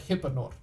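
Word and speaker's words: Hypenor: questions just ask for eprenor how do you spell that EP Anor um it's actually h-y-p-e-n-o-r it's more like it's more like hypnot but yeah that's good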